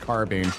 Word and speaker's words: carbine: Yes, it's spelled carbine, but it is actually pronounced carbine.